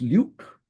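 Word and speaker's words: LIWC: measured by this uh program called Luke pronounced Luke and we looking at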